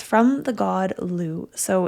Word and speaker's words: Lugh: And it's from the god Lugh. So, it's spelled l u g h.